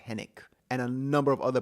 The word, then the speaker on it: Henwick: This is a movie that came out in March and it stars Glenn Powell, Margaret Qualally, Jessica Henik or Henwick, I think it's pronounced Henick, and a number of other people that you will recognize the moment you see them.